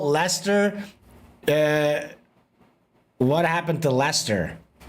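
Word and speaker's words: Leicester: It's pronounced Lester, but I don't know.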